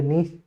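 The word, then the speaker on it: Nietzsche: इसको आप प्रोनाउंसिएशन में कई सारी फॉल्ट्स होती है, नीच से बोल देते हैं कोई इसको, ठीक है। आप इसको सीधा सा बोले नीच, है ना, इस तरीके से नीच, तो ये है ना।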